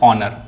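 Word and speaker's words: honour: ऑनर। यहां पे एच क्या है? साइलेंट है तीनों में।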